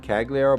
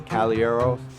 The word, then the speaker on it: Caliero: A lot of people do pronounce it Cagliero, but it is Caliero.